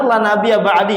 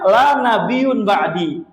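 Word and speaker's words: لا نبي بعدي: Kalau kita kan yang benar la nabiya ba'di. Artinya enggak ada nabi setelah saya. Ah, mereka membacanya la nabiyun ba'di.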